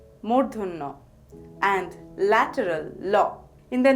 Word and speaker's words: ণ: the next letter is Muno the pronunciation is similar to the na in the English word rain the letter is mun